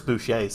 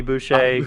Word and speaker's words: Boucher: you I still don't remember like that Chris Boucher's name and how to say this Boucher.